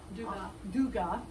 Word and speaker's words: Dugat: at art with dega duga d u g a t but we don't pronounce that t don't pronounce the T my dear Madame du